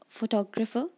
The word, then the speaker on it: photographer: In the word photographer, the stress is added to the syllable to. Photographer.